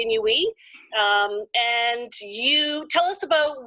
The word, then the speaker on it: Inuit: A lot of people pronounce it Inuit. It's actually Inuit.